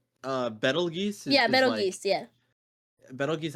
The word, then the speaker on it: Betelgeuse: Betelgeuse, I think, is like the actual pronunciation, but like the movie Beetlejuice, I think, is about like the same folk.